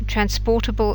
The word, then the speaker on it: transportable: You have some words, transportable and transportation. The real difference here is that whereas the stress in transportable is on the por, it isn't in transportation.